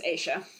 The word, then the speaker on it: Aisha: there's a drawing of Aisha, or Asha, however you pronounce her name. It's really not Asha, because there's an I in there. Yeah, I think it's Aisha.